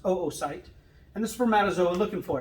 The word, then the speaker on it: oocyte: It's not pronounced oocyte, it's pronounced oocyte.